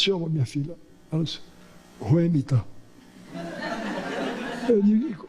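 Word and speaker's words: Whemytta: Ela disse, Ruemita. Eu disse, e como é que se escreve?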